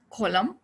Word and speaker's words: column: autumn not autumn season column condemn him and damn this n sound is not pronounced okay if it comes after m at the end this is a rule